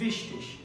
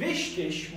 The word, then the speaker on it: wichtig: assist wichtig، wichtig دوستان این گ به صورت ش تلفظ میشه در پایان.